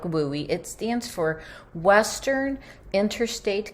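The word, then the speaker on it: WUE: Another option we want you to know about is the WUI.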